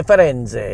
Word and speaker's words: Firenze: Ezio Auditore di Firenze. It's how I know how to pronounce the name of my ship that we're going on for Carnival.